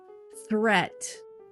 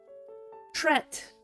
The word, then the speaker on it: threat: So those, the TH in those is similar to the TH in threat.